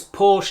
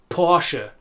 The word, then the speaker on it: Porsche: And talking of word endings, for a long time the German brand name Porsche was known as Porsche in the English-speaking word, until we realised that it also has two syllables. Porsche.